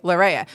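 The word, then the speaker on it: Larrea: the last names you have to say it spell it and then say it again so I'm like Laurea l-a-r-r-e-a lareya my maiden name was two ends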